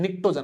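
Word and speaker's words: pnictogen: समझ में आएगी बेटा, पी साइलेंट होता है ना, ध्यान रखना, निक्टोजन नहीं बोलना है, यस क्या बोला है, निक्टोजन बोलना है, क्या बोलना है, निक्टोजन बोलना है ना, पी साइलेंट है, निक्टोजन बोला जाएगा, ठीक है सर, बहुत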